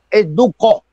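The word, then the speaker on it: Ducó: Es Duco. No es el estadio del Duco. Es Duco. Así se llama. Duco. ¿Tiene acento en la O?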